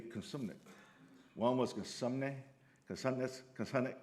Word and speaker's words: Cosumnes: in a general session, he said, the proper way to say this college would be Cosumnes.